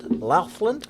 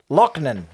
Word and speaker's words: Loughnan: We're sponsored by Nathan Laughlin. Bro, I put the pronunciation Lachlan. guide on there. Where's the pronunciation guide? Fuck, I got the wrong way around. This episode is sponsored by Nathan Laughlin. Lochnan.